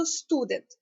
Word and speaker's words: Student: нас останній 100 передостанній Тобто ми ставимо наголос на ST тобто Student отже як ми будемо